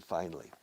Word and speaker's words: finally: Diferente uso de finally. Finalmente llegaron. Finally, they came. Finally. Ya está bien, finally. Finally, se pronuncia como dos sílabas.